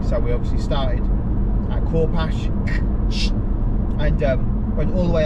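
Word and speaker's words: Corpach: anybody doesn't know, is because it's spelled C-O-R-P-A-C-H, and obviously the Scots people, sometimes it's the NCH is a ch, sometimes it's a, sometimes it's something else. So Corpash. Anyway, apparently it's Corpash.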